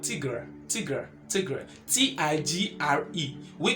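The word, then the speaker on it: tigre: sounds like tea and it sounds like gray do you see that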